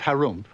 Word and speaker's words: Harum: in the land of Harum which is pronounced like when you clear your throat there lived an ogre